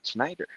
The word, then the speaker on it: Schneider: Yeah, I say it right, Snyder.